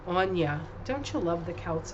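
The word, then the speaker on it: Aine: And then, of course, the last one is Ein. I don't know how it's pronounced. I will tell you, though. It is pronounced Anya. A-I-N-E, Anya.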